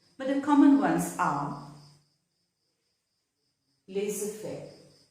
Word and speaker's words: laissez-faire: the common ones are laissez-faire, rendezvous. So here in these two words, the Z is silent. It is not laissez-faire, but it's laissez-faire.